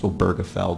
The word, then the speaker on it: Obergefell: sort of come to a consensus that it's pronounced oberfeld because frankly I had